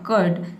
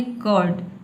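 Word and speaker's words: curd: कर्ड। लेकिन इसमें जो र का साउंड है इसको आपको नहीं बोलना। आपको बोलना है कर्ड। कर्ड। ठीक है? र को साइलेंट रखना है।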